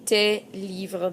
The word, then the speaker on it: tes livres: It starts with an L, so I would say tes livres. That's a silent S all of a sudden because there's no vowel there. So tes livres. Notice I don't make a liaison there, a link.